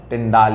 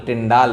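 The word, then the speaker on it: Tyndall: ये क्या है बेटा, ये सबसे अच्छा एग्जांपल है टिंडाल इफेक्ट का, ठीक है। टिंडा नहीं टिंडाल, बच्चे स्पेलिंग में भी गलती मार देते हैं यहाँ पे, ठीक है, ध्यान रखना है स्पेलिंग्स का भी।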